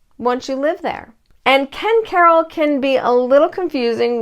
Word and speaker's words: Ken Caryl: And if you're relocating here, you'll probably notice pretty quickly that people pronounce Ken Caryl a few different ways: Ken Caryl, Ken Carl. But most locals tend to say Ken Caryl.